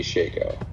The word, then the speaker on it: Shako: I call it a Shico.